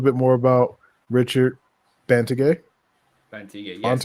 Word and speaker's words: Bantigue: Bantigue, yes. Bantigue?